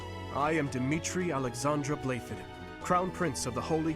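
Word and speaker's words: Blaiddyd: I am Dimitri Alexandra playfully crown prince of the holy kingdom of Fergus that looks that sounds nothing like how it's spelled what okay delightful news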